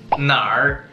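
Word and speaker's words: 那儿: Nar. Nar. Nar. Este es yo como un residente del norte de China. Yo automáticamente pronuncio este cartel con el R.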